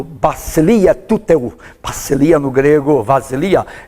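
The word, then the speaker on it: βασιλεία: Vasilia, a letra chamada beta, hoje é chamada de letra vilta, então ela dá só não de B, mas de V.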